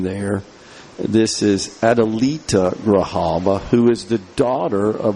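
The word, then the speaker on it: Grijalva: elected official here uh Graava I think is the way you pronounce the name there. This is Adalita Grahaba who is the daughter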